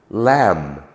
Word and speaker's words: lamb: that we gave was climb but there are a number um bomb cone lamb num thumb all end in the letter B not sounded in a mid uh